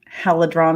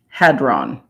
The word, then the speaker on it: hadron: How do you say that? The Halidron Collider. It's a halidron collider, right? Yeah, I do believe. CERN. Halidron. CERN. Hadron. Hadron. Yeah, Hadron. Hadron.